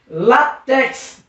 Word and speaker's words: látex: Látex, látex. Percebeu que a sílaba tônica é no lá.